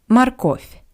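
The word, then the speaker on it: морковь: Russian is mar mar I want to remind you that the first o is unstressed that's why it sounds like ah marov and one more Moment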